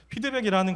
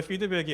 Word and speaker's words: 피드백: 여기서 중요한게 제가이 원래 피드백이 F 발음이라서 이렇게 허를 굴려야 되는데 그 너무 이상할 것 같아 가지고 그냥 제가 피드라고 하는 거 참고해 주시기 바라고요.